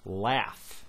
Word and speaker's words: laugh: If you've never heard of this before, G-H, in certain words, G-H is pronounced as an F, like laugh.